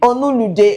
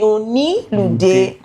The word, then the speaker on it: Onilude: I pronounce the name Onulude. No, Oni. Okay, Onilude.